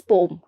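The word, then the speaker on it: poem: वैसे पोएम का जो करेक्ट प्रोनाउंसिएशन है दैट इज पोम, बट आपको अगर नहीं पता है तो मैं आपको बता देती हूँ। इट इज the correct pronunciation of पोएम इज पोम, है ना, यू शुड नो दिस।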